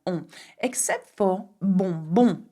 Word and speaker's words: bonbon: Except for bonbon. You will notice that bonbon is spelled B-O-N, B-O-N. It's like saying good, good. bon, bon, okay?